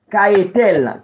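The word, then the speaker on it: Cahetel: ange gardien ki marche avec ouan, li rele, Kayetel, Kayetel s'écrit C, A, H, E, T, E, L, Kayetel, ça y moun fèt 26 au 30 avril.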